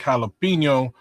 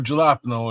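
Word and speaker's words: jalapeño: Um, guinea beans, onions, bell peppers, ground beef, garlic, jalapeno, or gelapno if you mispronounce it.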